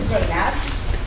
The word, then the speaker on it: Zainab: So my name is Zainab. Americans call me. Koreans pronounce it, and Japanese say.